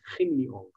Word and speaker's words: Hin Leong: So I think the right way to pronounce it is Hin Leong, because they're Chinese origin.